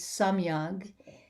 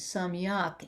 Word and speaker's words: samyag: And the word that I'm translating is correct, is samyag in Sanskrit, and the Korean pronunciation is samyak.